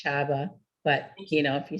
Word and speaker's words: Csaba: that i've never quite yeah csaba is uh pronounced chava but you know if you say saba you know it'll it sort of works too